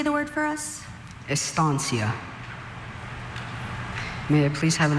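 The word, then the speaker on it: estancia: Estansia. Are there any alternate pronunciations?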